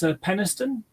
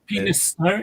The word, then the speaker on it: Peniston: It's Peniston, Oh, which is yeah. penis tone.